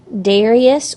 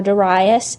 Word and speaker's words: Darius: Empire after Cyrus died he was succeeded by Darius or Darius and Xerxes Darius is spelled D a RI us and Xerxes is